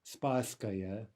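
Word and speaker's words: Спасская: that reason the beginning of that word is pronounced a spa Scalia spasskaya Bosnia Bosnia this clock is known for its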